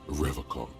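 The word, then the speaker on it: Revachol: He pronounces Revocon with a hard K, unlike other people.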